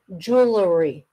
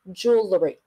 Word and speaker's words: jewelry: a dictionary it'll say jewelry jewelry Jewel jewelry you the middle syllable is very short jewelry jewelry but conversational jewelry it's like two syllables jewry jeel jewelry okay so it's jewelry I